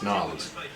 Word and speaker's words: New Orleans: Well, first of all, you mispronounced the city. It's Nolens. It's Nolens.